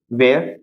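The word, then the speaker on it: where: ई आ आर ई वेयर है ना यहां पर भी साउंड किसका आ रहा है डब्लू का एच का साउंड नहीं आ रहा तो यहां पर ये भी साइलेंट है एक और देख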